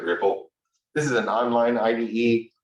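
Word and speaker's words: Replit: Okay, another popular one, Ripple.it, REPL. They decided to pronounce it Ripple.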